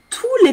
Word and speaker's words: tous les: Attention, j'entends pas le S quand je dis tous les.